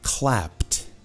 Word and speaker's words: clapped: The audience clapped. Clapped. Com T mesmo.